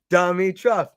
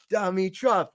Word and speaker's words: Dimitrov: just got the wheels no say it like the Chad Anthony phonetically okay let me see let me see dummy truff dummy truff dummy truck dummy truff